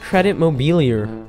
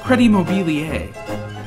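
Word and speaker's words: Crédit Mobilier: have to do with credit mobilia no it's pronounced credit mobiler oh whatever I don't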